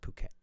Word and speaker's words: Phuket: I pronounce it Phuket.